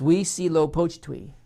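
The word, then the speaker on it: Huitzilopochtli: twister it's spelled h-u-i-t-z-i-l-o-p-o-c-h-t-l-i i had to look it up i couldn't figure out how to pronounce this if my life depended upon it so i looked it up it's we see low poached twee it doesn't even sound like it how it's spelled in some cases but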